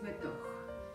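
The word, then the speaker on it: בתוך: Y suena así Betoch.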